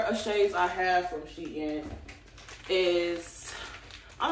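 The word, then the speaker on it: SHEIN: if that's how you say it but that's how i say it don't get on here saying sheen sheen i don't care until they personally write me their self and tell me how to pronounce it is she in how about that okay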